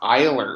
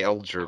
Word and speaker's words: Eiler: You actually said you had a chance to see It's pronounced Eiler. Eiler. I never say his name right. I always want to say Elger, but it's Eiler.